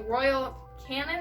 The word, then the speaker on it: Royal Canin: Dexter has had problems with crystals before, so from the vet, he gets the Royal Canin, I believe it's pronounced.